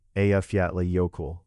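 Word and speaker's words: Eyjafjallajökull: Not far inland lies Afyattly Yoko, a volcano covered by an ice cap. Its name can be a challenge for visitors, but it is often pronounced approximately AFA Yoko.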